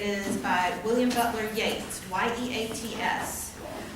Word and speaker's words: Yeats: And it is by William Butler Yeats, Y-E-A-T-S. And it's pronounced Yeats, not Yeats, although I don't know why Yeats is Yeats and Yeats is Yeats. Irish as opposed to English, I suppose.